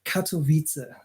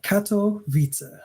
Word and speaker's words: Katowice: But for now, I'm in Poland, enjoying my stay here in a city called Katowice. Katowice? Yeah, Katowice. I did okay on the pronunciation.